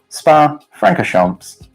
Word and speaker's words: Spa-Francorchamps: and don't know how to say Franco Chomp spa-francorchamps anyway next question this one good apparently I'm